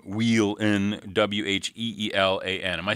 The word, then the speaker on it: Wheelan: That's Brooks and the last name Wheelan, Wheelan. Am I saying that right? Yeah, Wheelan.